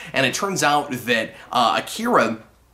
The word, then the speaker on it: Akira: it turns out that Akira or Acura as it's more accurately pronounced in the movie I watch this side